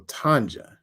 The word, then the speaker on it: Tanja: So the J is pronounced. Okay, so Tanja.